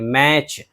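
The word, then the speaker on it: match: देख लीजिए मिसाल, जैसे कि मैच, तो मैच में जो है टी है और उसके बाद सी एच है, तो अक्सर ऐसी सूरत में टी को नहीं पढ़ते। मैच, माचिस या फिर मुकाबला।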